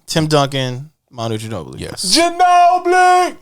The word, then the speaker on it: Ginobili: Ginobili! Right? You got to say it like that.